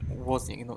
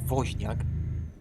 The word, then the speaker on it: Woźniak: I always, when I hear like Steve Wozniak, pronounced Wozniak, it's because for me it's so clearly Woźniak, because W is W, and we don't have like Wozniak.